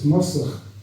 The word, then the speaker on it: Mossach: Mossy sounds of it could be Scots. It's not. It's Gaelic. It's Mossach.